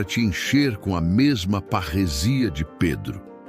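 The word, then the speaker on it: παρρησία: Para entendermos a natureza dessa ousadia, podemos olhar para a palavra grega parresia. Se pronuncia parrecia.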